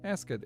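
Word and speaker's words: easgann: It's just Eskan. So, Eskan, which sounds very similar to the word for fish, which is esk. So, Essen instead of Yeah, Escan is how you say eel in Gaelic.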